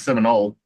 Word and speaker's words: Seminole: We always throw the L in there. I mean, it's Seminole.